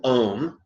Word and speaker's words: Om: and mentally in tone the very famous syllable ohm which rhymes with home so let's do this